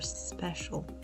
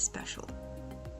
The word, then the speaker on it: special: The first one would be adding letter E before every word that starts with S. This happens, for example, with words like student or school or special, which are pronounced as student, as school, or as special.